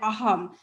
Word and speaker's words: Assam: in um assam i i should call it aham because the s is silent so hunger they traveled to other parts